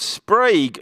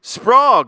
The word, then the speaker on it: Sprague: Ah, and it's pronounced Sprague, like, oh no, Sprague, like Prague.